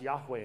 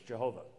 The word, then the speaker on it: Yahweh: caps, that's the Tetragrammaton, Yod Heh Wah Heh, pronounced Yahweh in Hebrew, or the how we slaughter it in English, Jehovah.